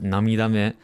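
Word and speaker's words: 涙目: So I've seen this word while reading quite a lot of times, but it's actually just pronounced namidame.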